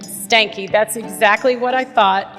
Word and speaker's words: Stahnke: It's my pleasure, and the last name is pronounced Stahnke. Stahnke, that's exactly what I thought.